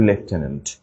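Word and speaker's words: lieutenant: ট্রিক্সে পড়ছি তো লেফটেনেন্ট বানানটা কিন্তু কোন এফ নেই বাট উচ্চারণের কিন্তু লেফটেনেন্ট এই বানানটার ক্ষেত্রে জাস্ট একটু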